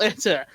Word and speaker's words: Itter: Itter? Out of curiosity. 'Cause I-double-T-E-R. I-double-T-E-R. Because I refuse to believe you're pronouncing that right. Nope, it's pronounced Itter.